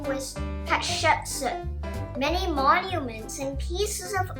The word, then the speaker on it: Hatshepsut: Her name is pronounced Hatshepsut.